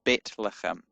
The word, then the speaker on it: Bethlehem: And Bethlehem is Betlehem in modern Hebrew.